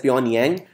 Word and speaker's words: Pyongyang: And it's pronounced as Pyongyang.